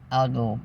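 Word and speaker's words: algal: and sell it to you considering algae blooms Alo blooms I think is the way it's spelled a l g a l anyway it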